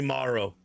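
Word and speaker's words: Marro: Ah, they call me Maro. I give him a firm hand. Spell that.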